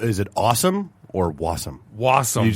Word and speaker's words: Wassum: Did you have a syllable? Is it awesome or Wassum?